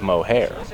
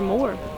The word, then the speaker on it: Moher: Ennis to the beautiful Cliffs of mohair or more again multiple pronunciations so I'm going to